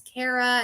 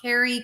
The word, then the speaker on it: Carara: a while it's like it's carara it's not Carrie Karen Ki whatever um everybody I mean